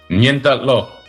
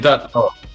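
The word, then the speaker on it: ngentot lo: It rhymes with bend down low, I think. What did he say? Say it again. Nientatlo.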